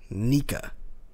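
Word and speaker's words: Nika: as it says grin which it is pronounced nica in japanese and there's a break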